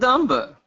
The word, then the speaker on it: dumb: Dump and dumber. Niet, as they say in Russia. So. Dumb and dumber. Almost. Dumb and dumber. Dumb and dumber. Yes, there's no B.